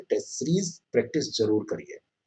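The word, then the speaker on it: Tso: पैंगोंग त्सो झील, त इसमें साइलेंट होता है, टी ऐसे तसो लिखा जाता है, लेकिन इसको सो पढ़ा जाता है ना, तसो ऐसे लिखा जाता है लेकिन सो पढ़ा जाता है, तो ये ध्यान रखिएगा।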